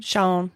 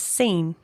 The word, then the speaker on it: Sean: next steps were so his name is spelled s a n which I say sha I say Sha but newspaper reports said that he pronounced his name as scen huh his employer said